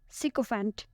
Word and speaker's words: sycophant: Our ninth word is sycophant. Sycophant. It has 3 syllables and the stress is on the first one.